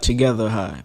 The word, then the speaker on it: twogetherhigh: get her high but when you sound it out it sounds like together high but it's spelled two